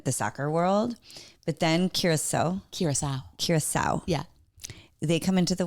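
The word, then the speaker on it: Curaçao: Back to soccer, because there's one other team and you pronounce it... it's Curacao.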